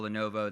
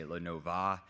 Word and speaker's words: Lenovo: of people, that don't know how to pronounce or spell Lenovo. They say Lenova.